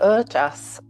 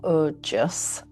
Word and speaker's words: Ojas: So Ojas, pronounced or Ojas, or Ojas, is a vital essence that gives us our glow.